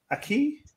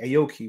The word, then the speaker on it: Aoki: say her name wrong is it Aki Aoki Aoki would be the word that is how you say it AI she's 21